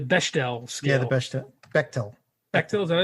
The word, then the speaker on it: Bechdel: Bechtel, is that how it's pronounced? Okay. Yeah, that's it. I don't know if I would go for John for pronunciations, but I think he's correct this time.